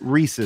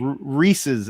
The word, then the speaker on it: Reese's: It's not Reese's. Reese's. You can look it up online. They even I tell know you. how it's pronounced. I'm just telling you how we pronounce it out here.